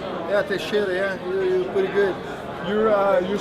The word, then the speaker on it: Teixeira: Did I pronounce that right? Yeah, Teixeira, yeah.